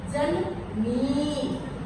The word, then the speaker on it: जननी: अच्छा कई बच्चे मैंने देखा है क्या बोलते हैं? जननी न लिख के इ की मात्रा डाल देते हैं। व्याकरण याद करते समय उच्चारण पर खास आपने जोर देना है। इसको आपने कैसे बोलना है? जननी मां हमेशा मां का दर्जा